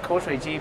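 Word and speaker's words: 口水鸡: In Chinese, it's pronounced ko shui ji, but that translated in English means saliva chicken.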